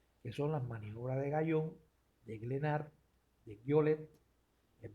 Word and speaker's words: Guyon: Ahora, el método de Gallón. El método Guyon se escribe.